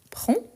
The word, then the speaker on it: prends: P prendre donc je prends je prends ici avec des S mais on ne le prononce pas je prends tu tu